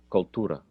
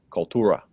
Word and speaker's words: cultura: you pronounce this one cultura cultura yes see i guess i know a little bit of spanish not much but enough to know that was probably the correct pronunciation maybe an australian not caring about the accent might just say koltura yeah can you say